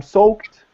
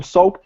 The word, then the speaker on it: soaked: pronunciation so yeah i'm soaked so the e d is pronounced as a t i'm soaked to the skin i'm